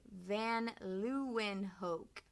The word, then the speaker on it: van Leeuwenhoek: 1680s we're not sure exactly what year anton van leeuwenhoek say that with me van luenhoek a dutch so he's also from holland they're